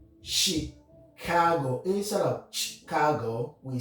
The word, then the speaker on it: Chicago: Examples, we have a word like Chicago. Instead of Chicago, we say Chicago because it's a French origin. Chicago.